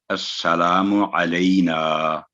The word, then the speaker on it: السلام علینا: لئی السلام علینا، تو یہ ہے اس کا صحیح تلفظ.